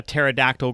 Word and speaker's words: pterodactyl: can't you hear a pterodactyl go to the bathroom oh gosh no i don't know why joe because the p is silent that's actually really funny